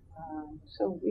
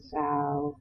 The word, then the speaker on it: Tsao: so that, for example, Calvin Sow, Chow, I think you pronounce his name, was teamed with Jeffrey Beam.